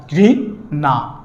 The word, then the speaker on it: ঘৃণা: যেমন ঘৃণা, মূর্ধন্য ন আছে, তাহলে এর উচ্চারণটা কি হবে, রিকারের উচ্চারণ বহাল থাকে, ঘৃ দন্তের ন আকার, ঘৃ না।